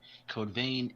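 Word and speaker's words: Code Vein: is that there are new screenshots for Cobain code vane is the action RPG that bandai namco is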